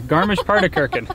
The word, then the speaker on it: Garmisch-Partenkirchen: Do you want to take a stab at pronouncing it? Garmisch-Partenkirchen? Yeah, Garmisch-Partenkirchen.